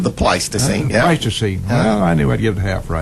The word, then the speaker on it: Pleistocene: Pleistocene Park, is that the correct pronunciation? The Pleistocene, yeah. Pleistocene.